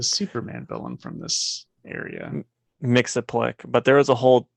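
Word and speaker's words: Mxyzptlk: Mix-a-Plick.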